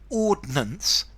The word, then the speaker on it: ordnance: or something very formal ordinance two syllables artillery guns um a